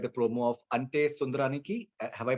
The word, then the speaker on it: Ante Sundaraniki: And I really like the promo of Ante Sundaraniki. Have I pronounced it rightly?